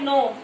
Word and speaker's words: know: इसमें के साइलेंट है, KNOW, नो।